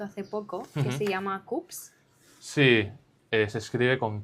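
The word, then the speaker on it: Koops: Y luego hay una marca que hemos descubierto hace poco que se llama Coops. Sí, se escribe con K.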